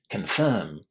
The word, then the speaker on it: confirm: In particular, how would you pronounce the letters I inside this word? Well, listen. Confirm. Confirm. How was the I pronounced it was a long air, right? Confirm. You can say it pronouncing the R inside and say confirm in international pronunciation.